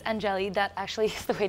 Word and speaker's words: Angeli: Well, it's Angeli. That actually is the way to pronounce it, Angeli.